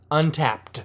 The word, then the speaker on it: Untappd: Well, since he's stalling, I'll spell it. UNTAPPD. Untapped.